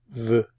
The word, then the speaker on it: veut: It's pronounced the same as these two, but spelled a little differently. Veut, veut.